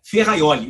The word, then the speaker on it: Ferrajoli: sabe quem é ferraioli se escreve ferrajoli e se lê se pronuncia ferraioli Luigi ferraioli é o